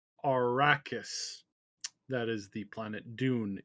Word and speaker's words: Arrakis: thing i feel i feel so bad it's pronounced arrakis that is the planet dune in case you